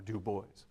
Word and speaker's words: Du Bois: My name is to be pronounced as two distinct syllables with an audible S, right, or Du Bois.